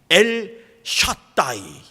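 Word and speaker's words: אל שדי: 히브리 말로 하면은 엘 샤다이, 이렇게 발음합니다.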